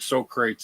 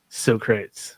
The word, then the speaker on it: Socrates: Sometimes it's fun to say them wrong, like Socrates instead of Socrates. Socrates.